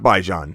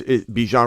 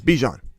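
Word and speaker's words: Bijan: Is it Bjon or is it Baijan? It's not Baijan. He said he says his own name. You hear him say his own name. He says Bjan. Hi, I'm Bjan. I'm Bjan. It's Bjon. This Bjan from Bjan's own mouth. So anybody says Baijan is wrong.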